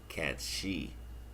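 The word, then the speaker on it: Cait Sith: Along with Kate Sith is spelled CAIT hyphen SITH, and that is actually pronounced Katshi.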